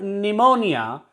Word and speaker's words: pneumonia: Here our P is silent before S, and in the word pneumonia, P is silent before N.